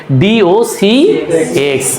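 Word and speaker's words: docx: ডট যেহেতু সবগুলারই থাকে ডি ওি এক্স অনেকে এটাকে একবারে ডগ বলে। তবে পয়েন্টের পরের গুলো একসাথে উচ্চারণ করার নিয়ম নাই। এগুলো আলাদা আলাদা করে উচ্চারণ করতে হয়।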